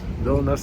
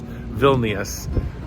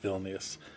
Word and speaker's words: Vilnius: ticketing office in Vilnius villainous I don't know how to say this city I've forever I've been pronouncing a villainous but I think it's Vilnius or something to that effect probably ought to go watch